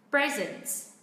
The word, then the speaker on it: present: Ok, nếu đây là một tính từ thì trọng âm vẫn rơi vào âm tiết thứ nhất. Đó là present.